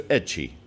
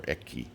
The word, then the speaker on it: Echi: the prisoner should be sent to echi or eki depending on how you pronounce it a village of 15